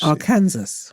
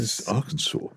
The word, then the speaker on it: Arkansas: That's why he knows our Kansas. No, Arkansas. It says Arkansas. It's Arkansas is how it's pronounced. It's a French pronunciation.